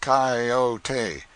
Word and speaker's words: coyote: rightly this latter was the regular coyote pronounced kaiote of the farther deserts